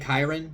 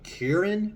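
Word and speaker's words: Kyren: Kieran it's Kieran Williams I've been saying Kyron this whole time but when I was uh watching the Colts Rams game the the announcer called him Karen Williams so I think that's how you say it unless the uh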